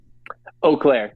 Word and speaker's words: Eau Claire: to be or Clair did I pronounce that right oair like oair okay oh yeah yeah it's like French yeah EA is o yeah so I've never